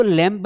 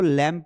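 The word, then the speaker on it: lamb: इसको लैंप नहीं पढ़ना है। इसको लैंप पढ़ना है। ये बी साइलेंट है।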